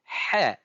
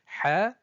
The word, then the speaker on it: ح: Elle se prononce au niveau du milieu de la gorge, au niveau de l'épiglotte. On entend une sorte de frottement sec au passage de l'air.